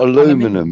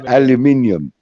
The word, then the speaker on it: aluminium: It's not aluminum. It's aluminium.